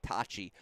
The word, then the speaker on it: Tacci: Felt like the Who's were a-coming, but credit to Luciano Tacci, who, by the way, pronounced his name Tachi in the video this time around, Chris.